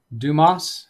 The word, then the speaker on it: Dumas: a movie pronounced Moss from a movie it's pronounced Moss Dumas dumbass dumbass maybe humor is so hard to